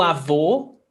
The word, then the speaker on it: avô: O avô, a avó. And this is something that students, I've realized that students struggle a lot with pronunciation. O, closed vowel sound, avô, that's masculine, grandfather.